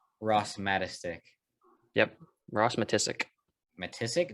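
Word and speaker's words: Matiscik: matastic yep ross matissic matissic that's how it's pronounced what's this i think it is i don't know i thought it was matasik i don't know it's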